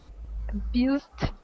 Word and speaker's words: abused: um this word here this s is going to sound like a z okay the word is abuse abused good abused with the D sound abused good yeah so